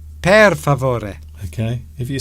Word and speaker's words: per favore: Per favore. Are you please. Okay? Are you having a stroke? No. Per favore, please. I think I can count to 10. Por favore. It's per favore.